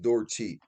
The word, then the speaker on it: Dorcheat: Closest pronunciation, Dorcheat. Dorheat.